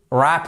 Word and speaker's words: wrap: ça ne marche pas vous êtes obligé de dire en français un vrap mais la bonne prononciation ça serait to wrap up et wrap ok conclure concluons con